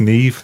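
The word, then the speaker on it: Niamh: pronounced Neve. That's another Irish name.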